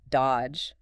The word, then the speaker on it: dodge: The classic example given is the word dodge. D O D G E. Right. You don't say that middle D at all.